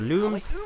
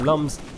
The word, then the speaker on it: Lums: God's sakes it's pronounced Lums it's not it's pronounced looms as in illuminate trust me uh I'm